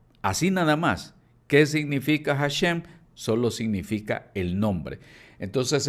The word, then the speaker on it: Hashem: Entonces ellos decidieron llamarlo Hashem. La palabra Hashem o Hasem, como dicen algunos, es un término hebreo que significa literalmente el nombre. Así nada más. ¿Qué significa Hashem?